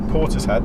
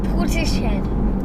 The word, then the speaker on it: Portishead: Portishead. That's how you spell it. It is how you spell it, but it's not how you say it.